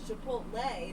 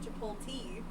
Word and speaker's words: chipotle: i'm like i'm like i think that you're just saying it wrong to say it wrong i've like told you a hundred times it's chipotle not to pull tea my favorite thing is